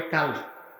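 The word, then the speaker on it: قلب: এটাকে আরবিতে বলা হয় কল। কি বলা হয়? উচ্চারণ ভুল করবেন না। অনেকে বলে কাল। কাল মানে কুটটা। আর এটা হচ্ছে কল।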